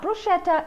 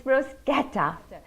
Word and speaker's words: bruschetta: favorite simple italian dishes bruschetta not bruschetta it's bruschetta simply grilled bread that